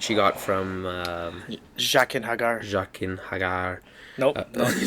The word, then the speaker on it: Jaqen H'ghar: Jaqen H'ghar.